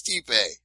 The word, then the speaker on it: Stipe: I didn't think there was another possible way for you to change the pronunciation, but you just came up with Stipe. It's Stipe.